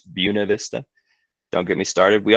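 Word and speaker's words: Buena Vista: It's mispronounced. It's not Buenov Vista, it's Buuna Vista.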